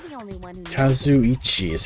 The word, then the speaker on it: Kazuichi: Kazuichi is how to pronounce it.